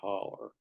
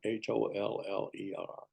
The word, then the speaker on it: holler: home was up a holler holler h o l l e r you might spell it h o l l o w but my family said holler near mville Indiana and